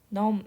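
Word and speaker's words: numb: 하루 종일 생각한다면 너는 는 넘 이거든요 발음이 발음되지 않고요 여기서는 마비된 감각이 없는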